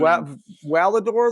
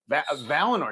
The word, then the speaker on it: Valinor: Valador, though. You said Valador. Valinor. You remember Valinor? Valinor.